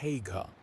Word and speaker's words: Haigha: His name is Haigha." He pronounced it so as to rhyme with mayor.